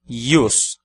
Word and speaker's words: ius: palavra da segunda coluna yus temos uma única sílaba e nessa sílaba a letra i precede outra vogal a vogal u temos portanto I consonantal no segundo exemplo yus